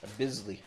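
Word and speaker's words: Bissli: And how do you pronounce this one? Bis Bizzley.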